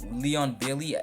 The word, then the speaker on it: Leon Bailey: next we went for Leon Leon Bailey it's how you pronounce his name um y'all see better